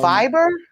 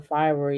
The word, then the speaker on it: Fiverr: 387 thousand dollars um on fiber on Fiverr f-i-v-e-e-r F oh that's how you pronounce it that's what I was trying to say oh okay yeah um and she made that money on Fiverr yeah 378 000.